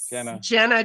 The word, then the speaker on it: Genna: beam of light so it's a soft G for change Jenna Jenna Jenna all right